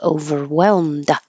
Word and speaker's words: overwhelmed: for the D and instead of releasing the D overwhelmed just hold it in the l d position overwhelm if there was a vowel after it you would you would hear the D over overwhelmed on so